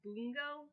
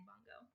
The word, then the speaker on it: Bungo: of my favorite animes and i call it bungo stray dogs but apparently it's pronounced boongo stray dogs and i just like realized that